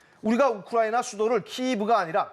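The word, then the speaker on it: Київ: 우리가 우크라이나 수도를 키이브가 아니라 키예프라고 부르는 것은 마치도 서울의 일본식 발음을 영어로 표기하는 것과 같은 경우가 아닐까요?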